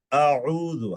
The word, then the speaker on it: أعوذ: শব্দটা আউযু, একটু উচ্চারণটা খেয়াল করবেন। অনেকে আউযু পড়েন, মানে প্রথমটাও হামজা বানিয়ে ফেলেন, দ্বিতীয়টাকে হামজা বানিয়ে ফেলেন। একটু খেয়াল করলে ইনশাআল্লাহ এই ত্রুটিটা আমাদের হবে না। আউযু, হামজা জবর আ, আইন